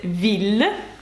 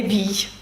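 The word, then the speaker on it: ville: це слова вілля місто запам'ятайте це віллль не Вій як можна подумати але Віллі танкілля спокійний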